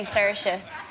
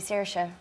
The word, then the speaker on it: Saoirse: I say Saoirse, but a lot of people in Ireland say, no, it's actually Saoirse. I think you're saying that wrong. So I don't know. I'm going to say Saoirse.